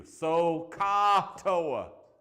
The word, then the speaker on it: SOHCAHTOA: SOHCAHTOA. Ah with an A, right? O with an OH, and then OA, right? Right?